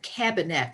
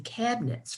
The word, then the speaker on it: Kabinett: you'll definitely like this and they call it cabinet spelt with a k and that means something it's